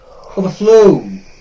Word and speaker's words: overflow: Overflow or flow or flow. The second part of this compound verb will be stressed.